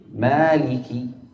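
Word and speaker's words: مالك: kasrah pada huruf kafnya yang diperhatikan dengan kita menekan rahang kita ke bawah sehingga keluar ki yang benar dalam keadaan kasrah.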